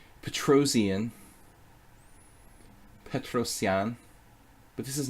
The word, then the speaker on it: Petrosian: Petrosian, if I want to try to pronounce it correctly, which I should try to do. People always get on my case when I start pronouncing Aronian like an American. Aronian. Petrosian.